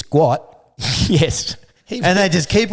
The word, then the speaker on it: Gout: They all know it's not gout. It's guat.